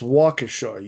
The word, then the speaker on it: Waukesha: Like where I live, Waukesha. When I worked at CBRE and I was working with people around the country, they would always say Waukesha, and I'd be like, it's Waukesha, you son of a bitch.